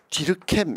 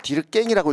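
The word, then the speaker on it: Durkheim: 자, 이걸 디르켐 이렇게 읽거든요. 뭐 디르깽이라고 읽어도 됩니다.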